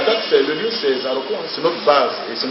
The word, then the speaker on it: Zaroko: la gare de zaroko à la gare de zaroko zaroko s'écrit Z a r o r o KO